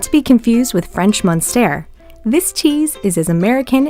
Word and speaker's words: Munster: be confused with french monster this cheese is as american as driving a hot dog shaped truck note the difference in spelling and pronunciation french monster american munster aged up to eight